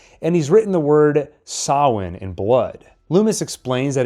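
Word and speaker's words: Samhain: he's written the word sawin in blood Lumis explains that it refers to the Celtic lord of the Dead first off Lumis mispronounces the word as Sam Hayne and second why does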